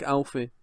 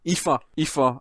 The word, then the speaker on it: Aoife: It looks like Alfie. Aoife, who used to be on Official Xbox magazine.